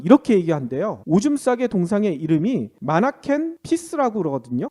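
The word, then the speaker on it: Manneken Pis: 얘기한대로 오줌싸게 동상의 이름이 마나킨 피스라 그러거든요 근데이 피스가 오줌싸다 얘긴데 이게 발음이 피스랑 비슷하잖아 평화 아 그래서 마라켄 피스 뭐 이런 식으로 이미지를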